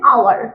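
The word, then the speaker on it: hour: এটা হাওয়ার, এটা হাওয়ার নয়, এটা হবে আওয়ার।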